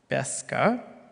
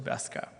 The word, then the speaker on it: Beska: And I'd like to introduce our first moderator, actually, Beska. So I'm going to leave the floor over to Beska. Round of applause. Thank you. Really good pronunciation. It's not that often you nail it right away.